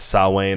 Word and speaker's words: Samhain: he explained Samhain wrong it's not even pronounced am hang-its Samhain that's its saw Wayne I think is how it's how it's pronounced and they pronounce it